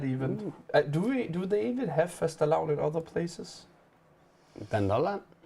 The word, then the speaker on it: fastelavn: known Nordic holiday of fastelavn, pronounced something like fastelavn, celebrated in February or early March across Denmark, Finland, Iceland, Norway, and Sweden.